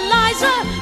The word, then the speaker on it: Liza: It's Liza with a Z, not Lisa with an S, cause Lisa with an S goes snods. It's Z instead of S, Lie instead of Lee.